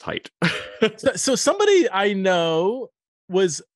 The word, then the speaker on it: Haidt: yeah that that is most people who um they say hate and he's like no it's height so somebody i know